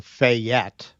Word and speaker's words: Fayette: So Fayette, with the emphasis on the second syllable, Fayette. they're saying.